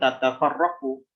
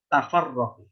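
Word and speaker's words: تفرقوا: Jadi bukan tatafarraqu, tafarraqu. Nah, tapi diidgham kemana? Kepada huruf sebelumnya itu lam yang bermat. Jadi bacanya bagaimana? Wala tafarraqu.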